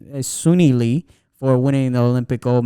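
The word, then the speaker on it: Suni Lee: to congratulate the girl sunny lee that one huh suny leaves oh okay i'm sorry i pronounced it different is sunni lee for winning the olympic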